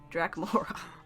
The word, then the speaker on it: Draculaura: my darlings uh drachmaura is that how you pronounce it yeah draculaura stunning as always i think oh i know